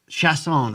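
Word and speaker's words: Chiasson: Chasson is the pronunciation. Chasson.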